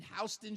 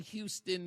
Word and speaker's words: Houston: It reminds me of the stupid debate in New York between Hston Street and Houston the town. Well, you know, Houston the city.